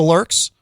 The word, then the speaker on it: Lürxx: So, can you tell us about the Lurks? Because the Lurks is am I pronouncing that correctly? The Lurks.